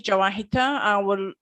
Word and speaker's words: Jawahitha: So it's me, Jawahitha. It's supposed to be Jawahira, but now my name, it's officially is Jawahitha.